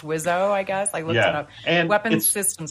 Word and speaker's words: WSO: his rap albums they call yeah wso but this is like pronounced wizzo I guess and Weapons